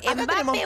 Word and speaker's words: Mbappé: Mbappé. Aguda, con la E final.